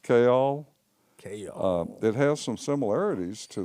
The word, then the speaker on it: Kayol: it yeah yeah so this one really does have two two syllables chaol it has some similarities